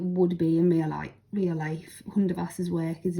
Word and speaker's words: Hundertwasser: Remember, Hundertwasser is spelt Hundertwasser, even though you can't hear the T. Hundertwasser.